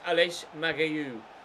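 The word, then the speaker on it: Aleš Matějů: Apparently it's Aleš Magaiu is how you pronounce his name.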